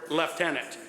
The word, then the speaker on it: lieutenant: Additionally, as English has changed dramatically over time, the letters V and U sounded the same, likely leading to the present-day lieutenant.